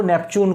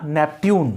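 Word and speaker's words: Neptune: देखो नेपच्यून को देखो, ये इसका प्रोनाउंसिएशन दोनों ही है, नेपच्यून या नेपट्यून, दोनों ही प्रोनाउंसिएशन सही है। यदि नेपच्यून बोलते हो तो भी सही है और नेपट्यून बोलते हो तो दोनों भी सही है।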